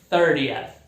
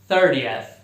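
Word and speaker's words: thirtieth: No inglês americano some o T, 30th. Mais uma vez, 30th.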